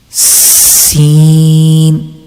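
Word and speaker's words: س: one is seen seen okay as i told you before whenever you are reading scene letter you have to make a sound of whistle seen okay i think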